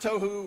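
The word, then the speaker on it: תֹהוּ: that right there but he says that it's pronounced toou right is chaos Wilderness waste confusion a place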